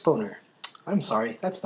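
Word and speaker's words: Boehner: And before we go, Speaker of the House John Bader's name is pronounced boner.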